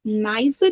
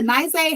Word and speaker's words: Nyzah: I'm your host, Sai, and today we are here with the amazing Nyzah. I'm pronouncing it right? Okay, really close is Nyzah, Okay.